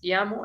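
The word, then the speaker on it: Guillermo: give you some hints that's guillamo it's pronounced as iamo and here is brasileno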